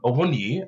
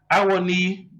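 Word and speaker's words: Awoniyi: Every time they say his name and they call him Awoni, I'm like, that's not his name. You have to break it down. It's Awoni.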